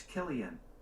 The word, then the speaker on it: Cillian: say Cillian Murphy's name Killian on the website daily edge died they say Cillian Murphy tempting it might be to call him silly and it's Killian gotcha okay thank you